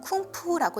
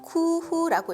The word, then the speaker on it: 工夫: 중국에서 공부라고 쓰면 쿵푸라고 읽는데요. 시간을 나타내기도 하고 우리가 아는 중국 무술을 나타내기도 합니다. 일본에서는 쿠후라고 읽고 고민하고 궁리한다는 의미로 쓰이죠.